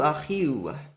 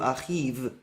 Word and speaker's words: Achiu: And it shows the W sound is the correct pronunciation. Achihu, Achiu. Not Achihu, Achiv. That doesn't make sense.